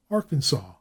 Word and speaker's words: Arkansas: Arkansas, as everyone knows, is pronounced Arkansas by the Arkansans, and the Nevadans give the name of their state a flat A.